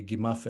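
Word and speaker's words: gmm.f: this, like, for example, gimif, may he find, or probably gimaf actually in pronunciation. It's spelled G-M-M-F in the hieroglyphs. But yeah, something like gimaf must have been the pronunciation.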